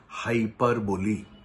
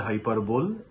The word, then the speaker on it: hyperbole: of speech সেটার নাম হাইপার বলি হাইপার বলি এইচ ওয়াই পি ই আর বি ও এল ই অনেকে বলে হাইপারবোল that is wrong pronunciation মনে রাখতে হবে হাইপার বলি ওকে হাইপার বলিটা কি